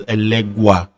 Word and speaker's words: Elegba: We have Beleke, Esu Ebita, Esu Onile Orita, Elegbara, Elegba, which, you know, in other societies, the Caribbean societies, Brazilian societies, it's pronounced as Elegwa.